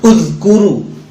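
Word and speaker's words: اذكروا: Ini kalau dibaca terpisah gitu ada u-nya ya. Kalau dibaca terpisah gitu, uzkuru. Kalau lagi baca Quran mau diulang dari situ berarti bacanya ada u-nya. Uzkuru.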